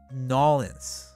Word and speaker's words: New Orleans: What city is often pronounced Nolens? Oh, New Orleans.